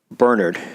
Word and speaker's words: Bernhard: war and wartime culture also Bernhard which is the British pronunciation of his name is stationed in Burma